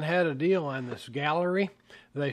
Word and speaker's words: Gaahleri: layout well Amazon had a deal on this Gallery they spell it funny uh g h a D- 68